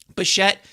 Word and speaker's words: Bichette: Josh was saying it right in sync, saying Bichette.